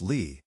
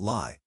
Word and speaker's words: Lie: This is the defining feature of a Lie group, named after Sophus Lie, a Norwegian mathematician whose name is pronounced Lee, not Lie, which is the only thing in this video that's pronounced sensibly.